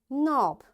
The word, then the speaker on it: knob: knife, knock, knot, knit, knob, knee, and knuckle, and knowledge. You see, in all these words, because K is there and right after K there is N, that's why this K is silent, right?